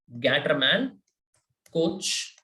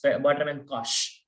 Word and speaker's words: Gattermann-Koch: again, a name reaction, Gattermann-Koch reaction. Okay, Gattermann-Koch or Gattermann-Koch, however you want to call it. I think it's Gattermann-Koch. The CH is Koch. Okay, it's a German name.